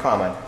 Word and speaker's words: Carmine: Am I pronouncing it correct, Carmine? Yes, Carmine is right.